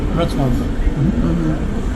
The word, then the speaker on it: Wrocław: We're leaving for Wrocław. Joe, did I say it right? Wrocław.